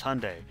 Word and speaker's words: Hyundai: just watch a commercial you'll know how to pronounce it it's hyundai it's not get over yourself it's in the